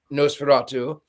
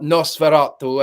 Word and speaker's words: Nosferatu: Also, what I find fascinating is that the director in an interview said that before filming Nosferatu, or Nosferatu, as it is, someone corrected my pronunciation, he actually watched Dracula Dead and Loving It.